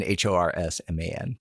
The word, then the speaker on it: Horsman: So do not pronounce an E when you say his name. Correct. Don't even and then Horsman. You mean no I? No, there's no E in Horsman.